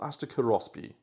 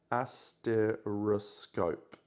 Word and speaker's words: asteroskop: I've just finished the designs for the paracausal asteroskop. That was not correctly pronounced. I'm going to try that again. Asteroscope. Asteroscope.